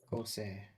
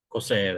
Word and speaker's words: Corsair: Yes, someone out there is having to explain why their kid is called Kossor, or how you pronounce that. Corsair. Corsair, that's it.